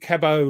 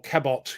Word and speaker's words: Cabot: Henry Cabot, or Cabot, you pronounce the T, don't you?